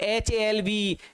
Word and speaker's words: halve: हेव, HAVE, हेव, ये तो sir verb है, रखना HAVE, और HALVE, इसमें जो L साइलेंट है, इस हेव का मतलब होता है कट इनटू टू पार्ट्स, दो भागों में बांट देना।